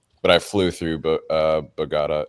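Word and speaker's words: Bogotá: Medie, but I flew through uh Bugatta. Is that how you say it? Bogata.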